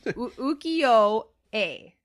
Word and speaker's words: ukiyo-e: So there's a dash because it should be the yo should be elongated. So it should be I can't say it. It's ukiyo-e.